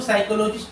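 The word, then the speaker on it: psychologist: इसको साइकोलॉजिस्ट पढ़ेंगे, इसमें भी पी साइलेंट रहेगा, पी का प्रोनाउंसिएशन नहीं रहेगा।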